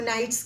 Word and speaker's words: knight: Pronunciation same, but spelling meaning different. Such types of words are called homophones. Spelling different, meaning different, but pronunciation night.